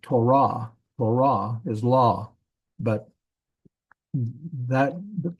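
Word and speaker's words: תּוֹרָה: end with ket like Torah Torah is law but that tah it's not it's not Torah it's Torah the emphasis is on the last syllable so that is not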